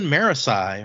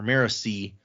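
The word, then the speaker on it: Marasi: And her cousin Marisi or Marisi I think I think I've heard Brandon actually pronounce it Marisi, but it's always I've always said it Marisi in my head.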